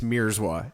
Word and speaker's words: Mierzwa: Is it Mierzwa? Everybody fucks it up. It's Mierzwa. It looks way worse than it actually is. That's not white, is it? Oh, that's Polish. Polish? Uh-huh. Mierzwa?